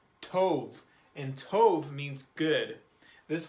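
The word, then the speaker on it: טוב: This word is pronounced tov. Tov.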